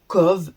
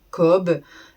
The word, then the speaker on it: Cobh: Alors, déjà, il faut savoir que on dit co et pas cob. Ça s'écrit cob mais on dit pas on dit pas cob, on dit co donc voilà.